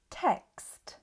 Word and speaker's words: text: But text ends with K S T text. To make the X sound, focus on making a K before the S. You can pronounce them separately and then join them together. K. And finally add the T c. With a bit of practice, text will no longer sound like test.